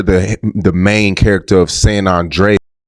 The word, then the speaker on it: San Andreas: This said San Andre Listen. Say it properly, You got me mad. You said it weird.